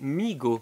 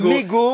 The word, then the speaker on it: Mego: Regarde, Mego, pronounced Migo. Alors Ça déjà, se moi je prononce dis, Migo, moi c'est je vrai. dis Kyler Entre Clown, je et dis Mego. C'est vrai que le E se dit I, donc Migo. C'est vrai qu'on dit Migo.